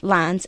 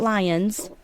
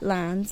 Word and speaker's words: Lyons: John Lyons said, Lyons, L-I-N-E-S, not Lions. I said it right, Lyons.